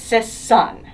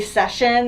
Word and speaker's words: Sisson: It's Sisson. Sisson. But I get French pronunciations and Sisson? everything. Yes. I'm like, or they'll say session, and I'm like, there's extra letters that I don't know what exists.